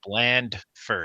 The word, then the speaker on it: Blandford: It's Blandford. Oh, you got to my pronounce gosh.